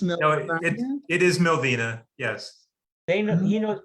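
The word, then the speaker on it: Millvina: So you You know- say, I always thought it was Milvina. It's pronounced No, Milvina. it is Milvina, yes.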